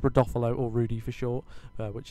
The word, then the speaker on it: Rodolfo: rodolfolo as well uh that is how you say his name not um reduvelo as I think I called him but it's rodolfolo or Rudy for short